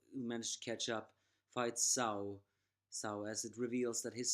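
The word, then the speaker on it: Cao Cao: Brigade Oh led by sow sow it's not cow cow what I said last time it's actually pronounced sow sow a descendant holding a spear that it's called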